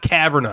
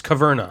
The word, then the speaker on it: Caverna: hate that me too it's not kavanaugh it's kaverna yeah a changes the